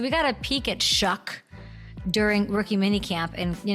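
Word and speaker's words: Shough: Shuck. It rhymes with F word, my favorite word.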